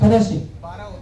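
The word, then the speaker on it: thoracic: Dorsal या थोरेसिक। Pronunciation जरूरी है। हाँ, थोरेसिक। Very good.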